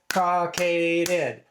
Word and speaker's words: cockaded: Three syllables. Caucaded.